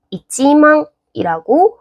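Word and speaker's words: 一万: 그다음에 만에 해당하는 건 망이라고 하는데 우리 특별히 1만 같은 경우는 1을 살려서 이지망이라고 해 줍니다.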